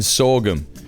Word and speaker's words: sorghum: In the US, we pronounce the H in sorghum.